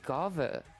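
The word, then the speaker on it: Guinevere: And because of that, you actually do not pronounce the N and the I's. Her name is actually Gav.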